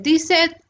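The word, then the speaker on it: dix-sept: अगला 17, जिसको हम बोलते हैं दी सेट। अगला है 18, जिसको हम अगला है 19, आखिरी है। ये सारी ये स्पेलिंग है, याद रखिए।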